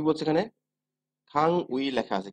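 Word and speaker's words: 강의: আমরা যখন উচ্চারণ করব তখন কি উচ্চারণ হচ্ছে, খাং উই বা খাঙে। এখানে আমরা কি উচ্চারণ করব, যেহেতু এই প্রথম রুলস এর মতোই আমাদের এই রুলসটা হচ্ছে একটা বর্ণের পরে কি আছে, উই আছে, এটাও আমরা কি উচ্চারণ করব, ইর মতো উচ্চারণ করব। তাহলে কি হবে, খাঙি, খাঙি।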